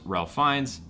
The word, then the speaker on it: Ralph Fiennes: It stars Ralph Fiennes, even though it's spelled fucking Ralph.